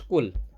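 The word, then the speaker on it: قُلْ: এখানে যদি কাফ লাগায় পড়েন, এই কাফ দিয়ে পড়েন, কাফ লাম পেশ কুল। হ্যাঁ, আমরা সাধারণত উচ্চারণ করি ভাবে কুল আউযু, না, কুল না, কুল। একটু গলার ভিতর থেকে কুল।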